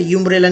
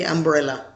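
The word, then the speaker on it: umbrella: अब इसे यूम्ब्रेला नहीं कहेंगे, इसे कहेंगे अम्ब्रेला।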